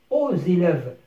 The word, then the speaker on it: aux élèves: O se termine par X، حرف ساكن ربطناه مع حرف متحرك للكلمة التي بعده. donc on a dit aux élèves. الإكس أصبح زاد، سمعنا زاد aux élèves.